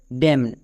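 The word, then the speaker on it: damn: যেমন এই ওয়ার্ড এই ওয়ার্ডের উচ্চারণটা হচ্ছে ড্যাম। ডি এম এন ড্যাম না। এর উচ্চারণটা ড্যাম না। এর উচ্চারণটা হবে ড্যাম। এখানে এন এর উচ্চারণ হবে না। এখানে এন সাইলেন্ট থাকবে।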